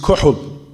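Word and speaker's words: kohl: وسلم, that he used kuhl in Ramadan. What's kuhl? I think everybody knows what cool is, right? They spell it K-O-H-L. I think it's spelled cool.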